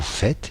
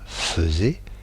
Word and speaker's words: faites: il fait T, nous faisons, alors que ça s'écrit faisons, vous faites et non pas faisez, et ils font ONT.